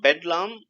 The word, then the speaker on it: bedlam: Okay, so bedlam can be, associated with bed actually.